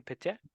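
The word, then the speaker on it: Piette: Pietier?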